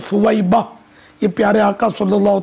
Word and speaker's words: ثویبہ: یہ ثویبہ یہ گھروں میں نام رکھے جاتے لیکن تلفظ عام طور پہ غلط اس کا پکارا جاتا ہے. ثوبیہ پکارتے ہیں، ثوبیہ نہیں ہے. اصل تلفظ فویبہ، یہ پیارے آقا صلی